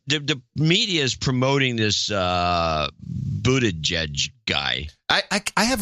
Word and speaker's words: Buttigieg: Because I keep whenever I see it, I want to pronounce it like a German would. You know, which would be what? Buttigieg. Well, that's probably the correct pronunciation, but Buttigieg is the way he's pronouncing it.